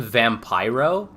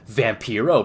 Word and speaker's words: Vampiro: on uh Vampro and he calls him Vampyro and then immediately realizes he called him the wrong name or mispronounced his name. So he says something, you know, something something vampyro. And then he like kind of stops and he goes or as I like to call him, Vampiro, brother.